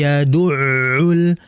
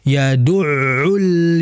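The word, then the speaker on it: يَدُعُّ: pada huruf Ain fzalikalladzi yaduul yaduu bukan yadu bukan bukan yadu bukan yang betul yaduul yatim seperti itu Kemudian pada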